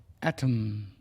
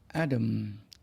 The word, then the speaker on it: atom: buses and trucks molecule molecule ไม่ใช่โมเลกุล molecule molecule atom atom in British English atom atom in American English เนื่องจากอักษร T ที่อยู่ในคำอเมริกันมักออกเสียงเป็น the ไม่ใช่เถอะดังนั้น atom American English จึงออกเสียงว่า atom